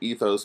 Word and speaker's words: ethos: ethos pathos and logos sometimes you hear them pronounced pathos or Lagos or something but I tend to pronounce them all with a long vowel sound at the end ethos pathos and logos and the torkoal appeals